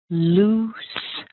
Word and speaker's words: loose: like sink or say so the word is simply loose loose loose now don't get confused